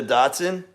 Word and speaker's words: dachshund: dachshund uh Annette d-a-c-h-s-h-u-n-d in America we pronounce it a dotson okay five seconds four